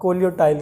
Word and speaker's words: coleoptile: ठीक है, ये है अपना, स्पेलिंग देखना गलत ना हो, कोलियोप्टाइल। कोलियो, इसमें पी साइलेंट हो जाता है, कोलियोप्टाइल। हाँ कोलियोटाइल कहते हैं, पर पी साइलेंट है, स्पेलिंग में लिखना होगा COLEOPTILE, कोलियोप्टाइल लिख देते हैं।